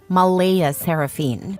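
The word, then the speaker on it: Mleigha Seraphynne: yes spelled exactly like that CLA insists it's pronounced Mala seraphine but she's adamant about keeping the creative spelling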